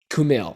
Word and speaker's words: Kumail: Kumail.